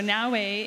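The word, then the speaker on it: Naoe: Am I pronouncing that correctly? Yep, Naue.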